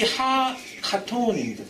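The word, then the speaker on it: הקטן: 이 하카톤입니다. 정확한 발음은.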